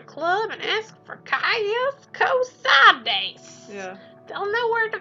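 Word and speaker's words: Cosades: You used to just say it Kosodes, but that's not the right way to say it.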